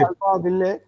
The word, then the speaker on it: Alphaville: Alpha will, and Not they read Alpha Will. I Alpha wrote it will, as Alpha Alpha will, Will or in whatever. 2005. Now we understand that LLE should not be pronounced.